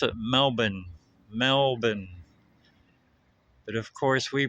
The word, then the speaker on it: Melbourne: Australia because it was for sale east of Melbourne, Victoria. If you look on a map, well, here they pronounce it Melbourne. Melbourne, but of course we pronounce it Melbourne, like Melbourne, Florida.